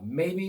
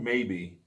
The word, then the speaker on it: Maybee: I'm from Maybe, Michigan.